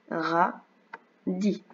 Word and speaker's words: radis: do riz adore les radis donc tu as vu que radis il a un S muet alors il y a